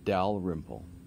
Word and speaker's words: Dalrymple: The man in mentioned in lecture 11, his name is Theodore Dalrymple. Theodore is spelled the way you'd expect. Dalrymple is D-A-L-R-Y-M-P-L-E.